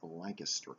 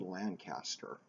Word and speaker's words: Lancaster: and that is next door to what is pronounced as Lancaster County it's spelled Lancaster but if you go there and you call